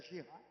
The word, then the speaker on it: jihad: Existe jihá, é jihá, a pronúncia certa é jihá.